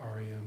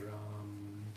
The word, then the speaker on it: Ram: Okay, so R-A-M, but with a long A, Ram, Ram.